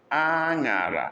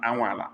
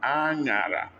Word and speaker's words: anyara: Look at the sound. Anyara. This is not anwala. Anyara.